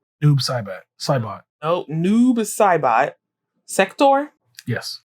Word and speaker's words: Noob Saibot: How do you pronounce his name? Noob Saibot.